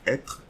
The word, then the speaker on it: être: We are not going to read this E, but instead we are going to read TR, so être, être. So we don't pronounce the E.